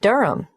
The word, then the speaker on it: Durham: at one euronga Street Durham how do you spell Durham d-u-r-h-a-m of course I should know that but it's just one of those names that sounds quite different from the way you spell it it is confusing I've